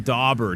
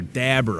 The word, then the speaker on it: dauber: Bring your own dauber, dabber, however you want to say it. It's DAUBER, so I would pronounce that as dauber.